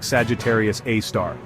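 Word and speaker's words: Sagittarius A*: call it Sagittarius A asterisk say it like Sagittarius AAR it's like the central anchor of our galaxy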